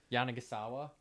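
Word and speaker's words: Yanagisawa: I'm seeing one for the uh How do you pronounce the brand again? Jana Gasawa.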